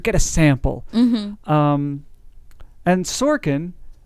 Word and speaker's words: Sorkin: a sample um and sorkin rhymes with porkin parking is making pork